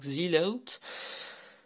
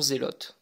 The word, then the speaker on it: Zelotes: voyez la marque alors je le prononce l anglaise sinon ça fait un peu truc de vieux donc on appellera cette marque zilla août et non zélotes parce que sinon on